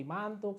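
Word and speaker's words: Mantoux: pemeriksaan selebih lanjut seperti mantuk satu Eiger atau foto rontgen atau bahkan cek dahak itu juga nanti bakal dianjurkan ya Dok ya ngantuk tuh bacanya mantu ya bukan mantu Mantup ya mantu mantu dokter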